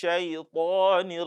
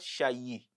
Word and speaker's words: شيطان: A'udhu billahi minash shaytanir rajim. Shaytan, not shayi. So some people also mistakenly pronounce this ya with kasra by saying shayi.